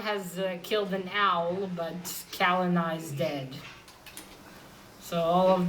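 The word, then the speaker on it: Celanawe: Only a small group knows the Kalina is Black Axe. And also, I found that funny when they returned with him. Someone said, "Oh, so that's how you pronounce his name. I thought it was Selena."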